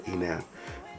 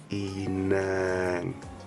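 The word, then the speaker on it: inaŋ: the word for 4, Inan, which is I-N-A-A, and with that N you spell it, but the N has a G at the end, so that's what that indicates.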